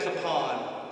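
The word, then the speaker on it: Kapaun: a problem and then we met kapan again which is the proper way to pronounce it in case you guys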